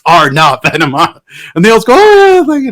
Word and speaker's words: Arne: only one little thing it's pronounced R now and they'll go oh